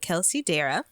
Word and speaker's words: Kelsey Dara: This is from the episode with Kelsey Dara. That's how you say her name.